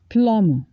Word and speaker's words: plumber: Crown even if you freeze them a bit plumber plumber we have to call a plumber to